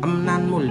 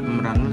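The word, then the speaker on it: 음란물: Emnanmul dibacanya emnanmul, bukan emranmul tapi emnanmul artinya pornografi.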